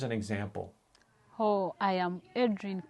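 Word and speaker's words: Edrine: example oh I am Adrian and my name when I spell it is e d r i n e then is k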